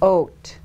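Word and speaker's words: ות: Now, okay, so and that's pronounced oat. Say oat.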